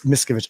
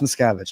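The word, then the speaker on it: Miskavige: That's something I've been noticing is like everybody talking about like Jennet Mis Miskovich. I know it's Mskavage. I just like say it wrong.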